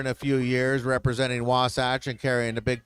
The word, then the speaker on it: Wasatch: of it because uh we are very happy to say wasach because as we travel it's not wasach not wasach or any of those